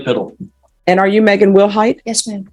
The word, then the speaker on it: Wilhite: And are you Megan Wilhite? Yes, ma'am. Am I pronouncing your last name correctly? Yes, ma'am. Will Height.